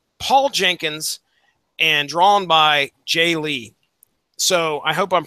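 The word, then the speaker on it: Jae Lee: miniseries done by Paul Jenkins and drawn by Jay Lee so I hope I'm pronouncing that right has it ever been have you ever pronounced that anything different Jay Lee yeah thank you okay good no yeah all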